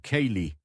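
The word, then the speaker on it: ceilidh: Seilid se pronuncia algo así como Kayy, una fiesta con música y bailes tradicionales en grupo.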